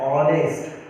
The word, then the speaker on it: honest: we read it as honest. Honest. Okay. So H is silent here. H is silent. We don't read H.